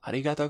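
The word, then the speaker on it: ありがとう: is thank you okay the things usually is arigato but we can be extended arigatou gozaimasu thank you very much domo arigato gozaimasu politely saying thank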